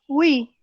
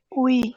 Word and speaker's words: oui: Cuando decimos sí, oui, también se pronuncia la U y la I. Oui.